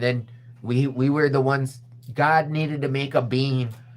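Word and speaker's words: Gad: one of the It's pronounced God.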